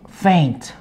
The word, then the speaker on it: faint: Paint 하고 faint. Oh, faint. Yes. 그래서 어떻게 발음하죠? 그리는 paint는? Paint. 그럼 faint. 그렇죠. Paint 하고 faint 발음이 다르죠. Paint P 발음 paint 하고 faint F 발음 아랫입술 물고 faint.